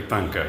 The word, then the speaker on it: Thangka: I think I was outside explaining, and I think I pronounced it correctly. Thangka, yes.